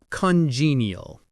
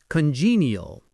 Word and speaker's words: congenial: Congenial. Congenial. The stress is on that second syllable.